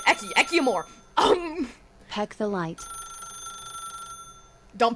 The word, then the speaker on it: Ecci: Anyway, the other day, we raided Rainbow, and the way she pronounced my name was Ecci, because she said it as a Italian pronunciation, which is technically true because Ecci.